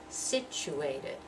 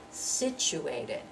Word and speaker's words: situated: loudest and longest dress situated situated situated and so that you remember the TU is pronounced like choo situated next one presidential